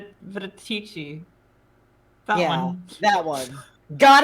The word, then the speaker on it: Venetica: Veneria? Venetici.